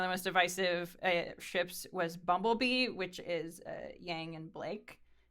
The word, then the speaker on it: BMBLB: It's pronounced Bumblebee, but it's just Bumblebee without the vowels.